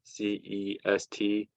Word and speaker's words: Alcest: I believe that's how you pronounce it. Alcest.